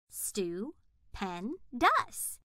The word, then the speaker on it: stupendous: Right after the word is how to say or pronounce it. Stu-pen-dus.